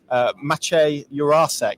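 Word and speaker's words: Matěj Jurásek: is a a uh pronunciation guide that is in the program which is called is says that his name is uh mache urasek I think so yeah we are emphasizing the the art in the middle of the name I'm afraid so yeah that's that's the way we're pronouncing it um so there we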